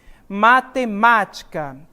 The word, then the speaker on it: matemática: oxítona paroxítona ou proparoxítona onde está a sílaba tônica gente matemática a sílaba tônica está aqui ó no mar certo e perceberam que este mar a sílaba tônica nessa posição é a antepenúltima sílaba dessa palavra então